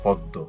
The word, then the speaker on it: পদ্ম: পদ্ম, এখানেও মোটা উচ্চারণ হয়নি, এখানে চন্দ্রবিন্দু আকারে রয়ে গেছে।